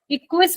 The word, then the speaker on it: Equus: इक्विस, EQUUS, इक्विस भी बोलते हैं इसको हम, ठीक है। हॉर्स को नहीं, स्पेलिंग मैंने गलत लिखी है, EQUUS।